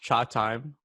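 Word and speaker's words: Chatime: are so boring davis replied back saying it's pronounced cha time company shout out to davis davis uh so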